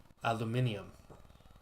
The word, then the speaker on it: aluminium: no say it right Eva there you go aluminium that's how it's how it's spelled you're just like removing letters while youing